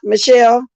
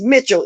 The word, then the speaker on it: Mitchell: see what this guy like a man not Michelle okay let me go at the top wait what's up you're absolutely right it's Mitchell m-i-t-c-h-e-l-l Mitchell I was calling Michelle in say